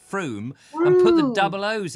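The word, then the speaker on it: Frome: yeah so it's not like from yes it's froome that's right with two yes so i was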